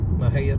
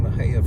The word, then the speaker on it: Mexia: M-E-X-I-E is how it's spelled, so don't ask me how they got that name Mexia from that, but it's one of those odd Texas names that no one can pronounce unless you're from Texas.